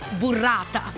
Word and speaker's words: burrata: It's pronounced burrata.